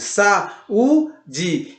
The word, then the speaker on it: saúde: Na palavra saída nós temos sa-i-da, na palavra saúde, sa-u-de. E você percebe que também tem um acento agudo e o U ele fica isolado em uma sílaba, tá bom? O U fica isolado numa sílaba, ou seja, sa-u-de. O U fica separado do A.